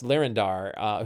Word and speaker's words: Lyrindar: Mark of the Storm, half-elf, an independent scion and wandslinger of House Lyrindar, who got kind of kicked out of House Lyrindar after an incident with an airship.